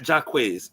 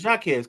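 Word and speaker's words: Jaquez: Uh, Gabriella, it's not Jacquz. I can't never say her name, right? It's Jacuz. Her brother plays for the Miami Heat.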